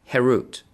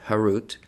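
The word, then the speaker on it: חֵרוּת: Carved, herut, on the stones. Do not pronounce it carved, harut, but rather freedom, herut, to show that they are freed from the angel of death.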